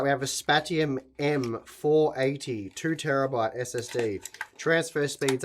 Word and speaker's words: Spatium: All right, so the Spatium, that is how you pronounce it.